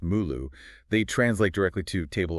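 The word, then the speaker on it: 目录: And just for context, those Chinese characters inside the the brackets, they're pronounced "mulu".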